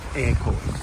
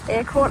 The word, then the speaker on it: Eyrecourt: hike back to portumna I think they pronounce it more air Court air Court I can't air yeah like um bake air okay and the sun's